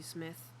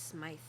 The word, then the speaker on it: Smythe: Thank you, Smith. He nods to the young man. It's Smythe.